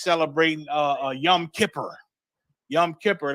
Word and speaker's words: Yom Kippur: uh a Yom Kippur Yom Kippur that's the Yiddish uh pronunciation of our ancient Hebrew yawam kaparium they call it Yom Kippur um and before we